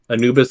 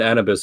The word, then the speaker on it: Anubis: ] also crafty emerald anubis and annabes are both the correct pronunciation yeah i've i've heard